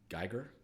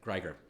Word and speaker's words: Greger: buddy and forgive me if I'm pronouncing his name wrong Dr Michael guer how not die oh yeah yeah yeah Michael Greger Greger excuse me he is a physician who I